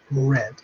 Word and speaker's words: read: yes remember the consumer would write it the same but we pronounce it differently will have read don't worry or say I mean they are read sorry I'm Italian during